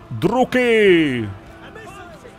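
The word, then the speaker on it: Druchii: Druky! Takže se to vyslovuje druky.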